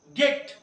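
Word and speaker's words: get: लेकिन देखो यहाँ पर एक अपवाद एक्सेप्शन भी दिया गया, गेट। जी के बाद ई आ रहा है बट इसको हम क्या पढ़ेंगे? गेट।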